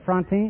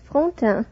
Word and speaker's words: Frontin: Miss Josette Frontin, is that right? Am I pronouncing your name correctly? Not very correctly. It is Frontin.